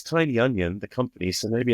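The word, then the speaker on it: Tynion: like you know James tinian coming back uh Tian sorry I should use the correct pronunciation I think it is Tiny I I always say James tinan actually Jam it's tiny onion the company so maybe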